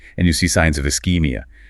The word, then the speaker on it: ischemia: you see signs of ischemia. Pronounced is-keem-ee-you. The chi makes a hard k sound.